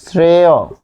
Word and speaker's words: শ্রেয়: তারপর শ্রেয়, শ্রেয় উচ্চারণ হবে শ্রেয় ও।